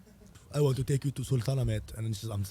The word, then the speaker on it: Sultanahmet: like pronounce it like slow? Sultanahmet.